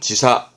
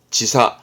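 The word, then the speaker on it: 時差: 당이다 당시에 토지 토지 요거는 차이의 차자라 시차 발음은 지사 지사 아 잠깐만 여러분 시에게 나와서 그러는데 일본의 수도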